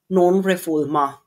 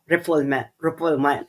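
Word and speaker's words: non-refoulement: Because of the principle of nonrefulma. Okay. But English speakers ah but English speakers pronounce it as as non reform reffulment.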